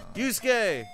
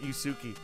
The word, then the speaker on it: Yusuke: Yusuke! Yeah. Yeah. I remember my friend always used to pronounce it Yusuki.